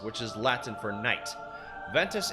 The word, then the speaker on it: Ventus: Ventus is in classical Latin is also pronounced with a W instead of a hard V sound.